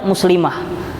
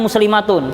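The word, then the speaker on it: مسلمة: Ustazun untuk laki-laki, ustazatun untuk perempuan, muslimun untuk laki-laki, perempuannya muslimah. Muslimah, walaupun kita nyebutnya pakai mah seperti daha, itu di akhirnya adalah tak marbutoh. Aslinya muslimatun, kita bacanya muslimah, ya.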